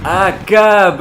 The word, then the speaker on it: Achab: Oui et finalement comment est-ce qu'on prononce ce nom du fameux capitaine Achab ? Cab Akab, je viens de le Grenigo.